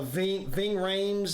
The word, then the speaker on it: Ving Rhames: familiar it's got uh what's his name uh Ving Rhames is how you say his name Ving Rhames he was young this is back in like 87 88.